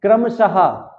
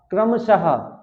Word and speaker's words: क्रमशः: मुझे बताइए क्या इसमें लास्ट में हा निकल रहा है। आइए बोलते हैं क्रमशः। क्रमशः। क्रमशः। लास्ट में ये हा निकल रहा है। क्या निकल रहा है? हा। क्यों? इसमें ये विसर्ग लगी हुई है।